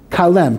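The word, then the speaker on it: כלם: time, and that is the two-syllable word kalem. Kalem is kaf. Chaf, lamed mem.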